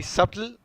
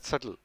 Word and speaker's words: subtle: s u it's actually subtle but you know you pronounce it as subtle the b is silent that's the trick okay so moving on